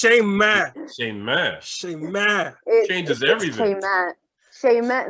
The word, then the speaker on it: Shayma: Like, what's Shaymay? I'm Shayma. Shaymay. Shaymay. And it's not like I was 1,000 times telling the men that is not how it's pronounced. It's Shayma.